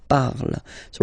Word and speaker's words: parles: it is je parle, parle. So remember, we put it, okay, but then we don't really pronounce it, je parle, okay. Then for tu, you will have to put es, okay, phonetically tu parles.